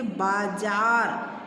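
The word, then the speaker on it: बाज़ार: ज में जब नीचे बिंदु लगा है तो इसका उच्चारण स्थान बदल गया है। जैसे लिखेंगे बाजार, बाजार।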